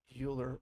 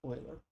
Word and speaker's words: Euler: i know that looks like it should be pronounced euler but it really is not it's euler like the texas spoilers uh meters constant is